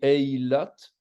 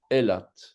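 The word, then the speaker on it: אילת: va dire est là parfois on dit heylate mais théoriquement devrait dire est là et là deuxième ville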